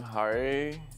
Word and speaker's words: Hari: Uh I am Hari. How do you spell that?